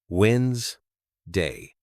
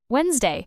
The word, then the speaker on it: Wednesday: Remember, it's pronounced winds day. Try it. Wednesday. Wednesday.